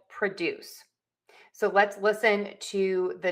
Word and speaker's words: produce: When the verb, that's the key here, when we have a verb starting with pro, we are going to shift the stress to the second syllable. And what does that mean? If you said that the first syllable reduces to a schwa, you are correct. So then we will have PROJEKT and PRUH-DOOSE.